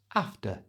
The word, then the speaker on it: after: to say this naturally change the e r at the end of after to the schwar sound that's that little a sound so it becomes after after that you try another